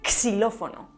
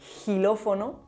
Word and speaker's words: xilófono: Bueno, y por último, es importante saber que la grafía X a principio de palabra puede pronunciarse, además de como x o s, xilófono, xilófono, como gilófono o incluso como sh, xilófono.